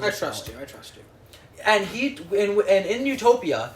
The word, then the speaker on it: Utopia: We don't know how it's meant to be pronounced. It could also be pronounced Utopia, in which case it'd mean no place.